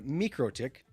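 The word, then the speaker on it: MikroTik: and this this guy, the Micro Tick. That's how you say it, people. Say it with me now. Mroick.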